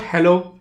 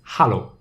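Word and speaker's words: Hallo: in german it's called hollow so it's not hello it's hollow right it's very simple right you just change e to a and becomes hollow it is also called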